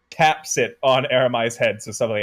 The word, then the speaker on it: Aramai: How do you pronounce Aramai? Aramai.